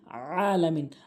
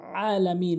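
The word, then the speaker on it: العالمين: বেশি যেটা ভুল করি এখানে আলামিন বলি ভাই আলামিন মানে হচ্ছে তো পতাকা আর আলামিন মানে বিশ্ব আইন উচ্চারণ করে উচ্চারণ করতে হবে আলামিন আলামিন তো বলা যাবে না রে ভাই এখানে শুদ্ধ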